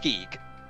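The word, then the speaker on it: Gigue: G I G U E I A still pronounced geek cuz that makes sense.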